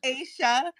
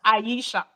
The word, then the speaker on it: Aisha: would call it in my name is Asia I'm using my Nigerian accent we would call it Aisha so yeah absolutely I know that with um my parents decided to be a little bit different and change the pronunciation of my name but when people call me Aisha I um it's that's how it's supposed to be so I same name